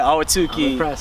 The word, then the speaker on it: Ahwatukee: to the West Coast all the way in Ahwatukee, or if I pronounced that right. Yeah, that was right. Yeah, Ahwatukee, Arizona.